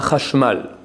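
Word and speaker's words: חשמל: Parmi eux, le chashmal.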